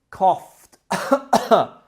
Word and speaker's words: coughed: Cough in the past becomes coughed, which is spelt C-O-U-G-H-E-D, but the sound is like C-O-F-T.